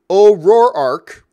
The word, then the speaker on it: O'Rourke: James O'Rourke writes, so the name is pronounced O'Rourke instead of O'Rourke.